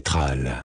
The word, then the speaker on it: Troll: Notre planète est connue sous le nom de Troll, prononcé Tral.